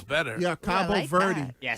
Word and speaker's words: Cabo Verde: Cabo Verde. Yeah, that's not where he's No, at. no, that sounds better. Yeah, Cabo Verde. that. Yeah, say it I've like just that. heard Cape Cabo Verde.